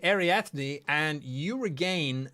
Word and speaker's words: Ariadne: You have no idea what that means, but that's how you pronounce it, Ariadne.